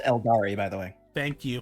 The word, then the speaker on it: Eldar: Tau, It's pronounced Eldari, by the way.